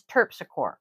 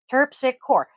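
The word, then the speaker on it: Terpsichore: was responding to is tur Tor m t e r p s i c h o r e tpic cor exactly how it's spelled it's Greek she's white and this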